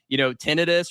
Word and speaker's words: tinnitus: Tinnitus or tinnitus, depending on how you pronounce it, but ringing in itching of the ears, ears, yeah.